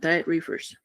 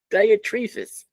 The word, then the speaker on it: Diotrephes: But it's not diet reefers. Diotrephes. Closer.